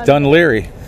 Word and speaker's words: Dún Laoghaire: the name Dennis Leary so he says done Leary done done Larry yeah this is a very